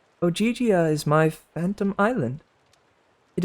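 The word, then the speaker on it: Ogygia: She pronounced it like Ogigia.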